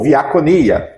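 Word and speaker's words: διακονία: Ou na na pronúncia mais certa, no no no grego D tem som de V. Então é diáconos ou viaconia, que é serviço.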